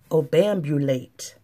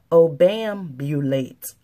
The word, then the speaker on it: obambulate: Obambulate. Let me say that again. Obambulate.